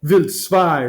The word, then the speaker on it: Wild: I guess we should say Wild 2, right? If we're going to pronounce it the German way.